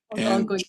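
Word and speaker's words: Algonquin: And the way you pronounce that is Al Gangquin. Alangquin.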